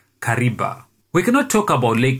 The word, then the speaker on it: Kariba: However, the complex pronunciation of the V in Kariba saw the Italian constructors produce a sound much like a B, hence the creation of the word Kariba.